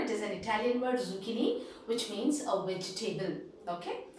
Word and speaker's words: zucchini: the next one zucchini it is zucchini and this is an italian word not a latin word it is an italian word zucchini which means a vegetable